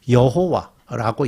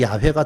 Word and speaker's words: 야훼: 옛날에는 여호와라고 이해를 했었는데 그게 발음이 야훼가 더 맞을 것 같다라고 지금 학자들이 추정하고 있죠.